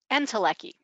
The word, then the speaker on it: Entelechy: Um, Entelechy, did I pronounce that right? Entelechy.